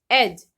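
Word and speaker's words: edge: है, like ब्रिज, फ्रिज, एज। इस सब में हम देख रहे हैं कि जी से पहले डी आ रहा है तो डी की आवाज हम बिल्कुल नहीं लेंगे, डी को हम साइलेंट ही रखेंगे।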